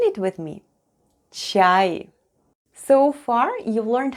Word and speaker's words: ЧАЙ: ЧАЙ /chai/ is tea in Russian: ЧАЙ /chai/. Let's spell the word ЧАЙ /chai/: the first sound is Ч /ch/, then we have А /a/ and И-Short at the end.